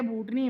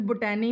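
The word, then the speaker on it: botany: याद रखना है कि पौधे जो हैं वो बॉटनी में आएंगे। ये बूटे से आपने याद रखना है कि बूटे कहाँ पर आएंगे, बूटनी में। ये लफ्ज़ बॉटनी है। इसको आपके टीचर्स बोटैनी भी पढ़ाएंगे, कुछ आपको बच्चे भी स्कूल के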